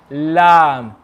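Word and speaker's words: لام: be touching when you say the letter lam say with me you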